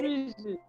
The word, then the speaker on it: Rusu: Alors, Johanna Ruzu, Oui, c'est bien Roussou, ça, mais j'ai bien c'est joli aussi, prononcé, Rusu.